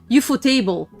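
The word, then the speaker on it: Ufotable: photovol does uh and it is pronounced well technically it's pronounced UFO table we actually went there and they themselves the the CEOs were like you for table it was like what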